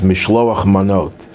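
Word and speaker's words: משלוח מנות: That's the Yiddish pronunciation. It's Mishloach Manot, sending of food gifts.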